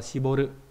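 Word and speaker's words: 絞る: gì rồi, nhưng mà đại loại là nó đọc là Shiboru.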